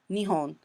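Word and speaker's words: 日本: So this one kanji, in the first one it's pronounced nihon.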